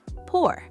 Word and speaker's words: pour: Then comes the second action, pour. Pour, P-O-U-R. Fun fact for English learners, pour is pronounced just like the word pour, but it means to transfer liquid from one container onto a surface.